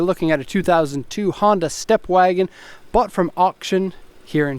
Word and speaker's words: Stepwgn: Actually, in Japanese it's called a Stepwgn. If you look at the badge though, it's really Stepwgn. You see they took the vowels out, so it's a Stepwgn.